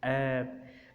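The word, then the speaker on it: herb: जैसे our, honest, honour, air, एब, तो इसको एच ई आर बी को एब बोला जाता है और एच जो है यहाँ पर अलिफ की आवाज़ देता है। मतलब ये है कि एच चूँकि उसकी आवाज़ ही साइलेंट होती है तो इसलिए ई आ रहा है तो ई साफ ज़रा अलिफ की आवाज़ देगा तो एब बोला जाएगा।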